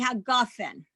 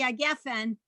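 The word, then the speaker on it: הגפן: Hebrew words that have 2 S sounds in a row, like Geffen or Eretz Words like that, often when the word is at the end of a line or a phrase, the first eh changes to ah. So you would have borei pri hagofen. It's not incorrect to say borei pri hagefen because they both mean the same thing.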